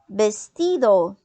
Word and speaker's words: vestido: Também podemos falar uma outra palavra que é parecido com o português é o vestido. Vestido. Por que vestido? Porque o V no espanhol ele tem som de B, né?